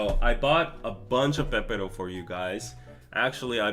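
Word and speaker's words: 빼빼로: As you can see, the English is Pepero, but we have a double beep here, so we would pronounce it Pepero. So without the double, with like this, it would be Pepero.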